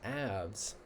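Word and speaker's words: Aves: So for the feathered ones, the birds belong to the class ABS is how you say it.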